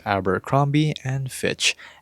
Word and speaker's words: Abercrombie and Fitch: so from there that is their brand it's Alber kromi and Fitch and that's how you pronounce it it's really that simple and this